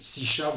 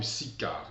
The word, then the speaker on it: Sichar: Sichar ou Sicar, les traductions, la prononciation varie selon les lieux.